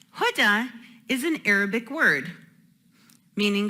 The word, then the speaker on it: Huda: My first name is Huda. Huda is pronounced like the hood of a car. Huda. Huda is an Arabic word, meaning positive guidance.